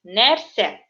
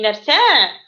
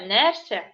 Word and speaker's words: нәрсә: Ударение вопроса ставим на первый слог. То есть нәрсә. Угу. Не нәрсә, а нәрсә.